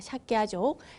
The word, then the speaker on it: 삭갸족: 석가모니의 석가, 그러니까 석가족, 원어로는 삭갸족이라고 하죠. 발음이 어렵습니다. 삭갸족, 삭갸족의 성자라고 하는 의미입니다.